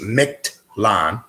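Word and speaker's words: Mictlan: or may not be familiar with it MIT pronounce my CT micked LAN is the name of the realm of the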